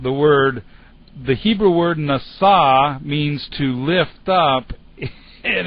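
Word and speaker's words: נשא: over on the left hand side anyway it's pronounced NASA and it means to lift up really not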